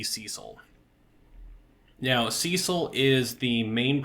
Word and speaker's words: Cecil: anyways and that is Cecil Harvey or cesil Harvey as some people would pronounce the name for me it has and always will be Cecil now Cecil is the